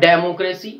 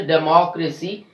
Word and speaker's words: democracy: Not democracy, it's a democracy. We are stressing on the third last syllable in this word.